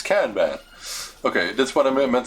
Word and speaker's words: Kanban: How you pronounce it in English? Kanban. Let's see, Kanban. It's international. Kanban. Yeah, it's Kanban.